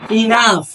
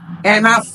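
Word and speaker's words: enough: হয় ঠিকঠাক হয়েছে সেক্ষেত্রে বলতে হবে যে ইনাফ এটা ইনাফ হবে এনাফ না এখানে পরের যে চার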